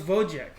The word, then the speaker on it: Wojciech: Guff asks if we played Robotech, and Gonti's also says that W is pronounced more like a V. Oh, so it's Wojciech.